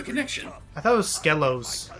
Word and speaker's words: Skelos: And yes, it is pronounced Skelos, not Skelos.